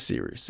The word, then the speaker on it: Cyrus: to see you again My name is Cyrus, it’s spelled like “Cyrus,” pronounced like “See Rooster,” just take out the “ter” Thank you very much for watching and have a wonderful day!